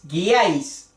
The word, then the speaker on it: guiáis: La U es parte de la fonética de la G. Cuando hay una I, para no decir ji, decimos gui. Guiáis.